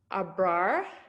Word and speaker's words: Abrar: I think Abrar, if I pronounce that right, has another question.